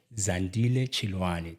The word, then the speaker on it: Zandile Chiloane: I was I never even introduced the properly zand chani did I pronounce it correctly yes you did thank you